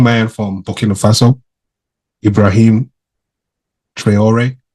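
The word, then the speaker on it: Traoré: from Bina Faso Ibrahim trayor that's how you say it trayor right trayor who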